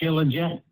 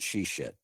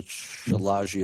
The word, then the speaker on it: Shilajit: Do you take Shilajit? I do. Shilajit from the... Shilajit. Okay. Shilajit. Oh, is that how you pronounce it? Lisa calls it she-shit.